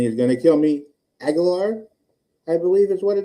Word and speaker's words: Aguilar: Aguilar, I believe is what it is. Did I say it right? You were very close. Oh. Say it with, and don't pretend there's not an I there. Aguilar? Aguilar.